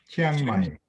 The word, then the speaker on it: Chiang Mai: Is it, Joseph, is it Chiang Mai, Thailand? Yeah, it's Chiang Mai, but yeah, Chiang Mai. Chiang Mai. Chin. Yeah, it's like CHI, Chi, Ang, and then Mai.